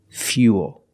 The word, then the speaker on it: fuel: But remember, with fuel, we have the same spelling pattern, but the pronunciation's a little different. We put that Y sound in there. Fia, fia, fuel.